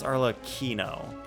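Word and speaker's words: Arlecchino: Arlo arlochino oh wait Arlo Kino damn it there are two ways to pronounce it like one is Italian and one is something else it's Arla Kino even a makeup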